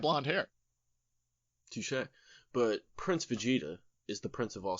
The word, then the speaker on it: Vegeta: you kept calling it Fajita, like a fajita that somebody's mispronouncing. Fajita. No, it's Vegeta. Like Vegeta.